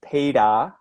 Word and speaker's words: Peter: If there's no vowel sound, you don't say the R. So, for example, if I say my name, Peter, Peter, Mm-hmm. there's no R at the end of it.